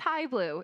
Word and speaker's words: Jai Blue: I think it's High Blue is how you say it.